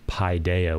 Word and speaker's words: paideia: the e sound versus Pi Deo which is like pie like eating a pie so uh I'll come